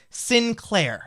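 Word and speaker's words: Psynn Claire: I think this user pronounces her name Sinclair. It's spelled P-S-Y-N-N space C-L-A-I-R-E.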